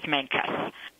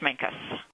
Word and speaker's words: Mancos: The pronunciation that I have learned in the 5 years that I've lived here is Mancos, a U sound.